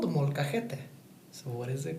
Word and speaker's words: molcajete: So this is a Spanish word, and so you can't really say it in English. It's kind of hard to say it if you try to spell it out. So that's why I'm telling you right now. It says molcajete.